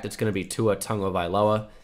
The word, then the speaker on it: Tagovailoa: going to be Tua Tagovailoa. It's annoying that it's Tagovailoa. I've been saying this quite a bit. It's not Tagovailoa. I know it looks like it, but he pronounces it Tagovailoa.